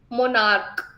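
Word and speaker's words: monarch: मोनार्क, इसमें क्या बन रहा है, क आखिरी में।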